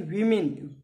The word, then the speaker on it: women: तो ध्यान रखना, इसको प्रोनाउंस करते हैं वीमिन, वीमिन, इसको करते हैं मैन।